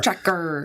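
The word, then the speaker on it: Trackr: It's spelled T R A C K R. Like Track R. Tracker. Um it's this tiny coinsiz device.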